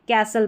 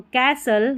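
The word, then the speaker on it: castle: यहाँ पर STLE जब भी साथ में रहता है, ऐसे आखिर में आपको नज़र आएगा, T साइलेंट रहता है, इसको STLE को हम सल करके पढ़ेंगे, तो कैसल या कासल।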